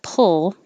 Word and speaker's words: pull: i think is to put your tongue in the l position behind the top teeth and then make your p pull so when you release